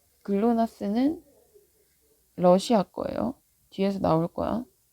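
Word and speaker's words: GLONASS: 그래서 GNSS는 인공위성이고 그 안에 종류에 뭐가 있는 거냐면 GPS, 글로나스라고 읽어요. 글로나스, 갈릴레오, 콤파스와 같은 위성 시스템이 있어요.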